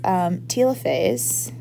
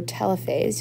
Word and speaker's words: telophase: at the same time this is telophase or telophase you'll hear it pronounced both ways um so it telophase